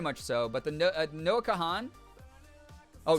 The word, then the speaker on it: Kahan: But the Noah Kahan? Oh, Noah Khan is how you say it.